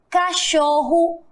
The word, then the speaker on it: cachorro: Cachorro, povo e touro. Olha aí, ó. Cachorro, som de O. Cachorro, som de U.